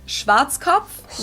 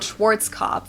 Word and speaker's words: Schwarzkopf: over the world pretty much in German we pronounce it Schwarzkopf which literally means black head English native speakers usually pronounce it Schwarzkopf or Schwarzkopf or something along those lines all right Deutsche